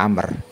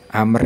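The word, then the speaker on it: عمرو: ee cara baca biasanya contohnya pada kata Amr Amr ini penulisannya terdiri dari huruf Ain mim ro wau nah tambahan huruf wau setelah ro berfungsi untuk memberi tanda baca agar orang yang membaca itu tidak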